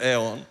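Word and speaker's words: αἰών: o que eles chamavam em grego se escreve aon mas normalmente se pronuncia Eon é o tempo mas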